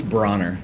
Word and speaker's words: Broner: to Facebook and how do you say your last name it's Broner Bronner if you can